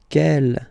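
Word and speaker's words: quel: Kell here feminine singular will become ke with the s fe feminine plural. And the good news is that you will pronounce them the same way.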